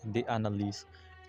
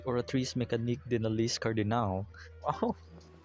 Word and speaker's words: Oratrice Mécanique d'Analyse Cardinal: Why did she say the Analyse? It's supposed to be pronounced the Oratrice Mécanique d'Analyse Cardinal.